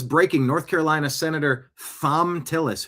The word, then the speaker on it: Thom: Matt Van Swol says, breaking, North Carolina Senator Thom Tillis. Who spells Tom with a silent H, by the way?